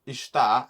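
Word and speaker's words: está: quite interesting because the the word ishta has a little accent which is a sharp accent on the a and what that does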